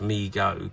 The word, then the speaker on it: Mego: these figures in response to overwhelming demand Migo pronounced Migo Corp was started by his father D David